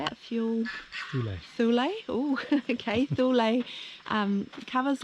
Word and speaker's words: Thule: do you say it fuel soul oh okay thule um covers like this the brilliance is that